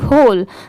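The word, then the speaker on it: whole: है कि कहीं पर सिर्फ एच ओ एल ई लिखा होता है। तो देखिए इसे भी होल पढ़ते हैं। एच ओ एल ई होल और डब्ल्यू एच ओ एल ई होल दोनों को सेम प्रोनाउंस करते हैं।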